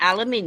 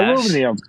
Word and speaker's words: aluminium: That's how you say it, aluminium. And then it results in microplastics. Yes, aluminum.